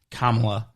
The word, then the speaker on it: Kamala: kamala you're laughing history kamala you got to pronounce it right it's kamala yeah so we've got that